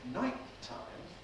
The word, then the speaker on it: nighttime: So what we have in nighttime is an extra long hold. Just one approach, there's one release, but a long hold.